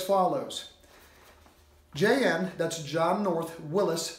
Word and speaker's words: Willys: that the word WI ll YS is indeed pronounced Willis starring Jack Kelly and Roger Moore by